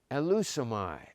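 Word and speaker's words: ἐλεύσομαι: And here's how it's pronounced, elusomai, I shall come.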